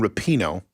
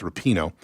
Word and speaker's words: Rapinoe: Yes, but you knew because they are Megan Rapinoe, how you properly pronounce it. I believe it's Rapinoe, is the one who has been all over the national media trash talking America in the worst ways.